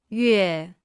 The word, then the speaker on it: 月: 月月月月月月月 Se pronuncia con el cuarto tono.